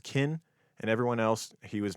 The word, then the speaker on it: Ken: To his friends, he was Ken, pronounced Kin, and everyone else, he was McElroy.